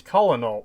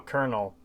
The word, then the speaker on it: colonel: dying is like cech where is r and colonel i really do i i really despise that one because any time i see it written my mind automatically goes colonel wait no colonel god i hate that